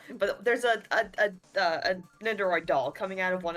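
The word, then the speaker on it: Nendoroid: One of the Nandroids. They're $350 each. I like how you pronounce that. It's Neroid.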